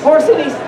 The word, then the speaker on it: porcinistas: This new brigade of porcinistas, Porcinistas. How do you pronounce that?